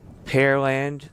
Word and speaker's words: Pearland: For a lot of people curious about the pronunciation, Pearland, the land where they grow pears. That's easy way to think of it. It's not where they have pearls.